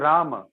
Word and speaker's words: Rama: And in Sanskrit, both words are different. One is having ma plus a, Rama, and one is ma plus a.